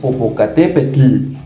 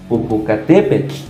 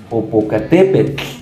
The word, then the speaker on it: Popocatépetl: humea sale y bueno la pronunciación incorrecta que se escuchan radio en tele o en algunos lugares por ahí de comunicación es Popocatépetl Popocatépetl no la TL no tiene ese sonido fuerte sino su pronunciación es Popocatépetl Popocatépetl sale la TL siempre se va a pronunciar de esta manera más no recuérdalo cuando